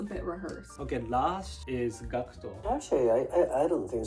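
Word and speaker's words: Gackt: know the original pronunciation normally the japanese people call me gakuto right american calls me cat cat yeah yeah kind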